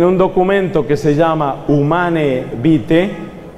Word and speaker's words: Humanae Vitae: Como lo anunció proféticamente el Papa Pablo VI en 1968, en un documento que se llama Humanae Vitae, se escribe Humanae Vitae, está en latín, se pronuncia Humanae Vitae.